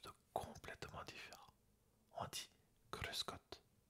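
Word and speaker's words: Grüß Gott: cruscotte ou bien cruscotte ça dépend comment on prononce le r en Allemagne tu prononces le r comme un r en français ou bien tu le roules comme par exemple en Espagne cruscot ou bien cruscotte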